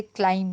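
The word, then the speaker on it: climb: इसीलिए जहाँ पे साइलेंट हैं ध्वनियाँ वो भी नहीं गिनी जाएंगी, जैसे क्लाइम करना, क्लाइम में ब नहीं बोलते तो ब का नंबर नहीं लगेगा, है ना, 753 होगा।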